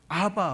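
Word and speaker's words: אבא: 이 예수님이 쓰셨던 아버지가 원어로 말하면 아바예요. 아바. 아람어를 쓰셨거든요. 그러니까 이게 마가복음에 그게 나와요. 예수님이 썼던 입에서 나온 발음이 바로 아바였어요. 아바를 150번 이상 쓴 거죠. 근데 이제 이 아바라 그러니까 어떤 신학자가 이것을 아빠라고 번역하는 바람에 대한민국 모든 강단에다 이게 아빠인 줄 알아요. 근데 그거는 잘못됐다고 밝혀졌고, 중요한 것은 예수님이 원어로 썼던 말이 아바, 아버지예요.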